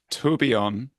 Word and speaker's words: Tourbillon: Do you want to give us the authentic French version of Yeah, we'll go with tourbillon.